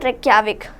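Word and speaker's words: Reykjavík: रेक्याविक। तो ये याद रखिए कि यहाँ पे लिखते जे हैं, लेकिन रेक्याविक प्रोनाउंस नहीं करेंगे, रेक्याविक प्रोनाउंस करेंगे।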